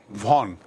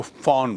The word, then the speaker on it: von: देखिए VON, वैसे तो उच्चारण होगा इसका वॉन, लेकिन जर्मन में, ये जर्मन वर्ड है, जर्मन में VON को फॉन बोलते हैं।